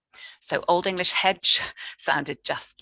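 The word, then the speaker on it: hecg: It's spelt H-E-C-G, but that CG cluster in Old English was in fact pronounced in exactly the same way that we pronounce J. So Old English hedge sounded just like modern English hedge.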